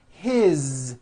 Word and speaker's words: his: word is it's not is on voice it's pronounced as if it were a z is this is good you hear that is his same thing it also has a voic z